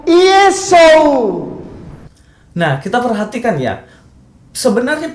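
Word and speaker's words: Ἰησοῦς: Tetapi yang saya heran, kenapa dia di sini mengatakan dan membacanya untuk para jemaatnya bukan Yesus, tetapi Yesu.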